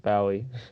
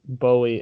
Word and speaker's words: Bowie: actually david bowie says that his name is pronounced bowie and that's just the last way i heard it every apparently everyone says bully and that's incorrect but it sounds cooler exactly